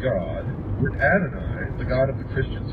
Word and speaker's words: Adonai: Adonai also spelled, well, in the first place here, it's spelled A-D-O-N-A-Y. It says Adonai, also spelled A-D-O-N-A-I, is the Hebrew word for God.